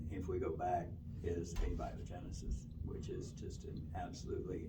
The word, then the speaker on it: abiogenesis: point that you can't explain what they call abiogenesis which is the origin of life it's called